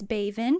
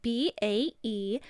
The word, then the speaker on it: Baevand: Howdy Meowers, my name is Baevand. That is spelled B-A-E-V-A-N-D, Baevand.